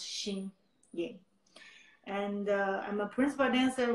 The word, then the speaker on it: Xin Ying: My name is Xin Ying. It's really hard to pronounce, but I try really hard to teach people, Xin Ying. Even it's spelled Xin, but actually pronounced Xin Ying.